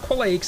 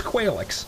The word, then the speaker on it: Qualaix: It's not Qualaix anymore. It's Qualaix, is how we're going to pronounce it.